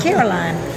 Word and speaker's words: Caroline: I know that the L-I-N-E is usually line.